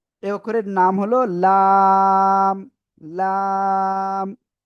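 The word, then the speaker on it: لام: লাম। জিহ্বার আগার কিনারা উপরে মাড়ির দাঁতের গোড়ার সাথে লাগিয়ে এই অক্ষরটা উচ্চারণ হবে চার আলিফটা নিয়া। দেখেন, কফ কাফ লাম তিনটা অক্ষরে চার আলিফ করে টেনে পড়তে হবে।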